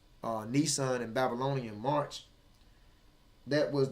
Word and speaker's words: Nisan: which is March this is how you say Nissan and Babylonian March that was there in the